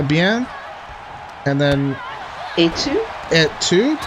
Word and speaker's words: et tu: Et tu, right? No, you don't pronounce the T. Oh. Et tu? Et tu? Okay. Don't say et.